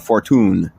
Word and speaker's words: Fortune: Her last name, it looks like it's spelled fortune, but it's Fortune.